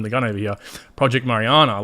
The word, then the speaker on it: Mariana: video project Mar I always said it wrong Mariana it's this the best bank of international settlement